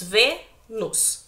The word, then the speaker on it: Vênus: Veja, se nós dividirmos Vênus em sílaba, nós temos Vênus, temos duas sílabas. Qual que é a mais forte? É a penúltima, certo?